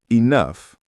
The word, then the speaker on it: enough: For example, if you hear enough, You'll notice the F at the end.